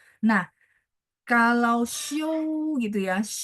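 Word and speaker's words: xiū: 'Show' berarti beristirahat. Ejaannya adalah X I U.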